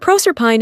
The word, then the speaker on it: Proserpine: It is to be observed that in proper names the final E and Es are to be sounded. Thus, Cybele and Penates are words of 3 syllables, but Proserpine and Thebes are exceptions, and to be pronounced as English words.